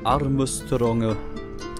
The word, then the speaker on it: Armstrong: sagen sie auf armong statt Armstrong weil ist halt die japanische Aussprache genau schaut auf im